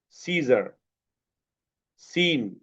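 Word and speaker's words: scissors: যেমন এখানে আছে সিজার, সিন, মাসল। দেখছো? এখানে সিজারের এস সি আই দিয়ে সিজার্স, এখানে এস সি আই মানে এস এর পরে সি আছে, সো সি এর সাউন্ডটা সাইলেন্ট হয়ে গেছে, সিজার্স।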